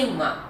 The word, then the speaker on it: imã: Ó, vou colocar uma figura aqui de imã, tá bom? E esse a ênfase é no i, né? Então, imã, mas a gente tem que fazer o mã, então, imã.